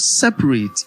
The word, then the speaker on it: separate: So when you have the word separate, it is S-E-P-A-R-A-T-E. S-E-P-A-R-A-T-E. It is as if you are spelling separate, but it is pronounced separate.